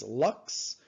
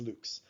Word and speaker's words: lux: 139 lx lux now a lot of physicists pronounce this lux it's lux it's the latin word for light and there's also another unit that they sometimes use called candles so you can see where these come from uh but i just can't say lux because i i studied latin and the proper way to pronounce it is luke's so i'm stuck with